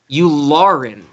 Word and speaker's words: Yularen: Zach, I'm going to ask you if I'm pronouncing this correctly. Admiral Yularen? Yularen.